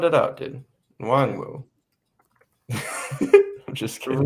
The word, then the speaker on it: Nwangwu: Is Kene Nwangwu, who's going to be my kick returner. How do you spell that? Just sound it out, dude. Nwangwu.